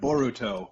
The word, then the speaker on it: Boruto: Well, see, the thing is, we have Boruto, which is the Japanese pronunciation of bolt, which is why there's a bolt in the O in his name.